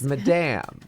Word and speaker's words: Madame: Madam or Madame? It's, how do I say it? My name is Madame Oh my gosh. It's Madame.